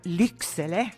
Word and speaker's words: Lycksele: He's currently residing in Liksjoe, or Lycksele, as we would say it in Sweden.